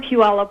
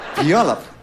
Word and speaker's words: Puyallup: Bowie this is Paige Paige tell them where you're from hi I'm from Puyallup Washington yeah Puyallup yes fine don't let that go completely it